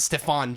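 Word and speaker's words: Stephan: with Julia Roberts and Stefan James pretentious hack just say it's Stephen it's pronounced Steven but anyways so my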